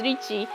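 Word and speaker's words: Ricci: have thought is Ricky it's not Ricky it's Richie St Catherine the Richi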